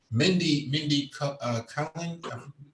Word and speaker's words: Mindy Kaling: Mindy Kaling, that's how you pronounce her name.